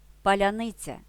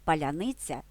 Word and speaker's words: паляниця: легко справитися із завданням їм важко вимовити слово паляниця адже в їхній мові інші фонетичні особливості До речі аналогічні труднощі викликають у так званих асвободітелей слова Укрзалізниця синиця нісенітниця криниця світлиця молодиця путь цвірінок пояснюється даний мовний бар'єр тим що у російській мові не існує м'якого звука ці українці натомість можуть вимовляти